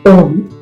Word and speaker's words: ॐ: The sound of Om is a combination of three syllables, A, U, and M.